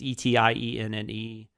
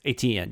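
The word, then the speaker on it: Étienne: Saint Etienne, I don't know how to pronounce that. It's Etienne. ATN? Yes, Etienne, yes.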